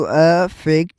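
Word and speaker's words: affect: अब अब [गला साफ़ करने की आवाज़] प्रोनाउंसिएशन का फर्क देखें तो A double F ई सी टी का प्रोनाउंसिएशन होगा जो अ फैक्ट है। अ फैक्ट उर्दू साउंड से देखा जाए तो स्टार्टिंग में अलिफ को ज़बर लग रही है।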